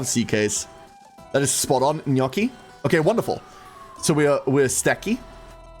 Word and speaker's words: gnocchi: Remember gnocchi?